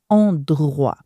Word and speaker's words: endroit: Emphasize on the R sound: endroit. Endroit préféré. There's a lot of R.